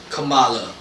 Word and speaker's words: Kamala: cookie ass title is kamala rhymes with yamaya which was the princess